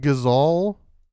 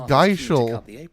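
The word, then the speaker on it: Gysahl: East pool a delivery from Martha these are gizall green seats wait it's pronounced gazal I thought it was Geisha strings then is she I've said that my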